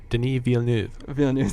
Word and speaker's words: Denis Villeneuve: talked briefly about the director I'm terrible at pronouncing his name his French Eric will you help me out here denis villeneuve thank you so much he for those of